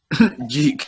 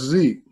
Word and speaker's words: Zeke: Every time they say his name, they're like, Jeek. I mean, it's funny because like Americans are the only people that don't actually pronounce things how they are. Like they call it as, like the letter Z. If it's Z, then it is Zeke.